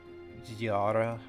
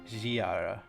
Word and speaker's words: Žiara: There's also Ziara. I think that's how you say it. Žiara. Ziara. Yeah. You add like a zhuzh to it when you have that little V over something.